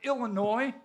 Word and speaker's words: Illinois: He hails from the great state of Illinois. The S is silent.